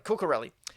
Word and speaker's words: Cucurelli: Not Ciccarelli, Cucurelli.